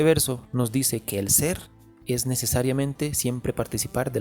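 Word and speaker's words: SEELE: Los humanos dejaremos de ser una cosa imperfecta y pasaremos a ser una cosa perfecta, según SEAL. De hecho, dato curioso, SEAL se pronuncia Ser en alemán, que significa alma.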